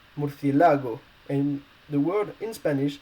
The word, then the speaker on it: murciélago: The first one is murciélago. It's masculine and means bat. But why do you need an accent on the E? Well, it's because the letter which is stressed is this E.